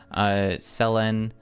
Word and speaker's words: Selen: Selen rhymes with pen.